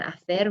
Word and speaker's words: hacer: And hacer, remember we don't pronounce the H, so we've got hago, haces, hace, hacemos, hacéis, and hacen.